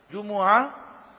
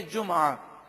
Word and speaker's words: جمعہ: تو اس لفظ کو دو طرح سے عربی میں پڑھا گیا، جمعہ میم پر پیش اور میم ساکن بھی ہے جمعہ، دونوں تلفظ درست ہیں.